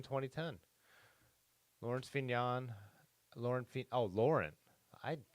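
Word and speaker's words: Laurent: Lawrence vignan Lauren oh Lauren I I never realized it was Lauren but I guess I bet in French they don't pronounce the T right so Laura if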